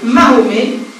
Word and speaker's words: Mahomet: Mais au XVIIIe siècle, le nom du prophète se dit en français Mahomet, proche de la prononciation turque Mehmet.